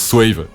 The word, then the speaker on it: Swaayve: parce que tout le monde tout le monde prononce swavy je sais pas pourquoi ils font ça mais ça se prononce SAVE fa qu'on mette les choses au clair mais